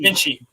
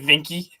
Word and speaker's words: Vinci: the funny thing is I said his name wrong one time and one of the people one of the I think Kenny said who I said Giovanni vinky I was like what